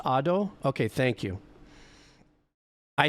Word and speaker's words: Ado: It's pronounced Ado.